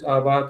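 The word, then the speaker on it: อาวาส: Avasa is pronounced as Awat in Thai so so it's it's it's the monk in in the in the residence.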